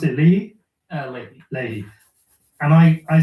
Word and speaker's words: Leahy: Do you pronounce it Leahy? Leahy.